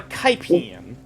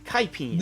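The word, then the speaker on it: Kipine: It was called a Kaipian. I will spell that in the chat. This is K- actually the thing. K-I-P-I-N-E. Kaipian.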